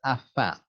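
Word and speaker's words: afin: shark fin or a dolphin finn but it's pronounced afa and it means um so that or in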